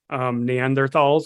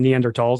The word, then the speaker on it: Neanderthals: other day talking about Neanderthals, or actually Neanderthals, I should say. Apparently. Right way to say it.